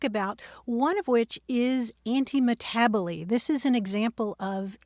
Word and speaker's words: antimetabole: we can talk about one of which is anti-abo this is an example of anti-abo which isn't one of your long-lost relatives it's spelled a n t m e t a b o l e anti- tabell and that comes from Greek words that means